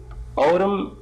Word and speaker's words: autumn: and spring summer winter autumn and spring and autumn here you'll find that M is silent n is a silent letter in autumn the next one climber climber